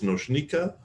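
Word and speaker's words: Nočnica: we get past them my name again is noika uh is fine if you're having trouble pronouncing noika um I work as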